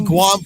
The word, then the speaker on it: Guam: Guam with a soft G.